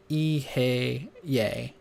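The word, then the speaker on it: Eheieh: Kether, Yesod, Ahi, pronounced Ihe-ye, Daath, the link, Yeho-vo-Elohim.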